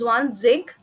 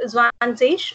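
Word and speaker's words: zwanzig: Some people pronounce it as Zwan Zig, and some people pronounce it as sh sound. So it can be used either of the way. Either you can Okay. pronounce it Zwan Zish or Zwan Zig.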